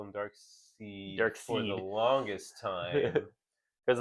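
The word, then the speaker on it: Darkseid: also thought it was dark seed yeah because it's SE right it's it's in the comic it's um yeah SE yeah it's it's not spelled phonetically the way you would spell dark side it it looks like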